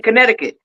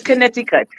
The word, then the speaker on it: Connecticut: way to say but we we say concut you know but I know it's Connecticut it's Connecticut I love